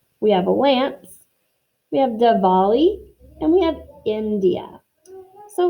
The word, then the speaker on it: Diwali: So it's spelled Diwali, but it's pronounced Diwali.